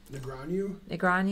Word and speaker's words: Negreanu: Negreanu is how you say it.